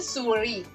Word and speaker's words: souris: Okay, we have another one which is une souris. So the S is not being pronounced. The pronunciation is stopping here.